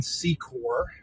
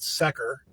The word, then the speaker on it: Secor: This is the corner of Door and Secor, or as the GPS lady likes to pronounce it, Secker.